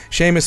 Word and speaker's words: Seamus: Is it Seamus? Is that how you pronounce that? Sumus? Seamus. I'm pretty sure it's Seamus. Yeah, Seamus McNally Grand Prize, $30,000 prize.